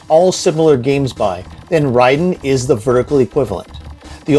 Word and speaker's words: Raiden: forth during this as I now know it's pronounced Ryden but I've said Raiden for 30 years Ryden which means god of